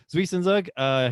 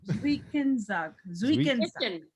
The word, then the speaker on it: Zwischenzug: Zwischen. Like a TS, the Z's are pronounced not as a Z, but as a TS, so it's Zwischen.